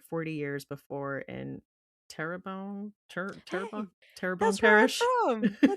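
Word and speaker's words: Terrebonne: His dad opened up a plastics plant like 40 years before in terabone terabone.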